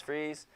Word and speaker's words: Fries: name is adam freeze his last name is spelled fries but it's freeze pray for him he's